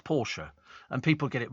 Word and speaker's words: Porsche: It's Porsche. Porsche is the car. That's right. Yes, absolutely official. It's Porsche.